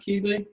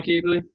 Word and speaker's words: Keebley: Would you pronounce that Keebley? Yeah. Yeah, Connor Keebley.